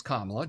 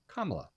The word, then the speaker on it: Kamala: weird coincidence there um but yeah her name's kamla just learn how to say it it's not hard kamla uh and it does bother me when people